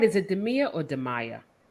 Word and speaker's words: Demia: Is it Demia or Demaya? Demia.